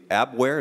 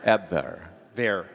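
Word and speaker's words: Abwehr: close it's ab ab ab ver later later teach me it's just a v it's just a v sound thank you thank you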